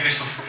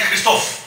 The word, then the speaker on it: Христов: аз се казвам асен христов само че ударението на мене е асен христов той е той е христов аз съм христов шегувам се уважаеми братя